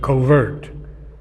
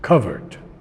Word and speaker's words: covert: We say in America covert and in other places but the British pronounce it covered.